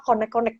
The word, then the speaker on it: Koneqkoneq: Berarti seluruh buku ini adalah terjemahan kitab Barzanji, semuanya dalam bahasa konek-konek gitu ya, konek-konek.